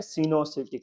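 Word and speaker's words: coenocytic: ओ silent है, सिनोसिटिक fungi.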